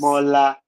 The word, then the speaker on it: Demola: Demola. That's how pronounced in Nigeria.